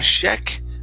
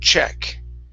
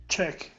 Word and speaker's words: check: word check right here so instead of Sheck give me a good CH check check okay good and uh